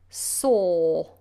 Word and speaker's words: saw: saw I saw saw I make a big space inside the mouth and the sound is